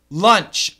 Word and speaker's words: lunch: the CH is not lunch uh short u again like stuff lunch Lounge launch lunch